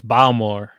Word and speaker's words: Baltimore: You guys are saying it wrong, though. It's Balmore. You gotta say Balmore. Balmore. They won't let you in if you don't say it like that.